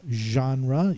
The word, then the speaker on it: genre: of a light tan color next we have genre you've heard that word use often in reading